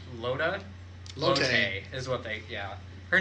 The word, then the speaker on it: Lotte: Loda. Loda? Lotte. Is what they... Yeah. Her name is spelled weird for how I would spell Lotte.